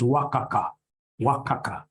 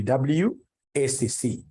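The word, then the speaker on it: WACC: companies you'll get somebody instead of pronouncing this thing professionally as wac you get somebody calling it Waka Waka no no no no that's very unprofessional it's supposed to be wac it's supposed to be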